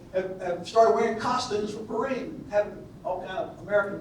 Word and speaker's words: Purim: It's called Purim, or Purim, the way it would be pronounced in Hebrew.